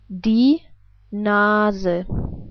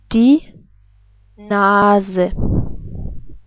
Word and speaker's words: die Nase: But we pronounce the E different. We pronounce it like, well, as I already told you, like an E, like in 10. Let's put this all together. We would pronounce it like die Nase. Again, die Nase.